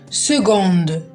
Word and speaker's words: سكوند: نعود لدرسنا وكيما لاحظت كلمه سكوند ما نطقتهاش سكوند يعني سي هنا ماطقهاش كا حاله خاصه جدا في كلمه سكوند سي ننطقها تقريبا جو سكوند سكوند سكوند سكوند اذا عندي